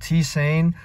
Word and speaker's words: tisane: they'll host it again it's a t saying i think that's how you pronounce it but it's at uh